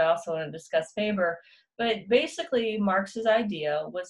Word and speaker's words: Weber: on social class, specifically Karl Marx and Max Weber, but it's pronounced Max Weber.